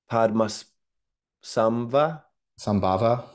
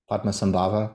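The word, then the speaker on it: Padmasambhava: your psychedelics essay okay I might miss pronounced this Indian Sage's name but the 8th Century Indian Sage padas SVA sambava PMA sambava I think is how it's pronounced credited with bringing Buddhism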